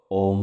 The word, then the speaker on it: ওম: ওম শব্দটিকে আপনারা 3টি ভাগে ভেঙে নিন। ও, অ আর ম। ও, অ আর ম। ও এর উচ্চারণ নাভি থেকে, অ এর উচ্চারণ গলা থেকে, ম এর উচ্চারণ মাথা থেকে। ও এর উচ্চারণ নাভি থেকে মানে ও, অ এর উচ্চারণ গলা থেকে অ, ম এর উচ্চারণ মাথা থেকে ঠিক এভাবে মাথা ভাইব্রেট করবে। তাহলে ও, অ আর ম এই 3টিকে একত্রিত করে যদি ওম শব্দের সঠিক উচ্চারণ করে কোনো মন্ত্র আমরা জপ